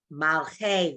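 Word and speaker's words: מלכי: Malchi, oh, Malcha, What's the Malche, va- Malche. There you go. 2 syllables. Everyone look at it. Mal is 1 syllable and che is the second.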